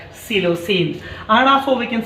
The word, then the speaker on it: psilocin: And also we can write one more medicine, this is called psilocin. Here P is silent letter, psilocin.